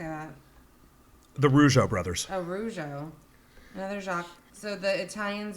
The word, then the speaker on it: Rougeau: Oh, Rougeau.